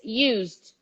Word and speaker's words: used: to work with is used used everybody repeat with us used used vibration in the infinitive use and the sound of the d ignore the e used used spielberg used